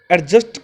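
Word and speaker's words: adjust: Next, एडजस्ट की बात करें तो एडजस्ट को हम सही प्रोनाउंसिएशन करें तो अ होता है, ए नहीं होता, एडजस्ट।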